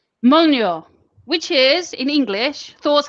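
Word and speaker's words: Mjölnir: Molnja. Molnure, which is in English Thor's hammer.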